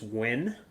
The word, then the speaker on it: Nguyen: Nguyen. Yeah, dude, that's how I That. thought it was pronounced. It's just I How guess do in you pronounce it? Vietnamese it's just Win, like WIN, Win.